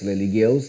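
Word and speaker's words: Lygaeus: Se escreve Ligaeus, Ligeus, né?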